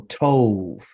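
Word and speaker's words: טוב: There is no letter V in the Hebrew language, but just for pronunciation, it really would be tob. Okay, but since it's on the end of the actual word, it is pronounced with a soft B sound. Okay, it's still a bet, but it's pronounced as v.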